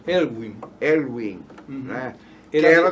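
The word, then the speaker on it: Aylwin: Que começou com o Alvin, não foi? O primeiro presidente democrático. Elwin. Uhum. Como é que pronuncia? Elwin.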